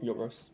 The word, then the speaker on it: Yorgos: Yorgos.